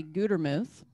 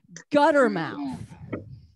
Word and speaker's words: Gutermuth: name is hard uh my last name is actually gutermuth and uh no you were fine you were fine but a lot of people mispronounce it and they just they just wreck it you know they'll mispronounce it and they'll say gutter mouth loretta was motor mode